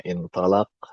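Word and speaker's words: انطلق: Jadi, yang satu dibacanya intalaq dan satu intaliq dan langsung beda maknanya.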